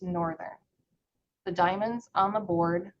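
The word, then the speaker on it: NRTHN: For example, the spelling of the NRT thn departure is pronounced northern.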